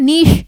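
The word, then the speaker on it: niche: क्या लिखा है नीश क्या इसको नीचे पढ़ेंगे लिखा नीश जाता है ई साइलेंट होता है नीश इसको पढ़ा जाता है नीश यानी कि आपका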